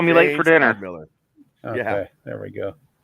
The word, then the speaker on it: Stedhmiller: I have BUBBA BREWER with me, and Shane, if I can pronounce his name right, STEDHMILLER. Is that correct? Don't call me late for dinner. STEDHMILLER.